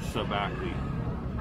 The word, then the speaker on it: shabakli: This is called sabakli. It's spelled shabakli, but he didn't pronounce the H, the SH. So sabakli.